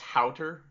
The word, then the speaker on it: Haueter: It's pronounced Haueter. Haueter.